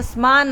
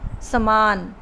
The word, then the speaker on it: समान: अब आगे है समान अर्थ वाले शब्दों पर घेरा लगाना है।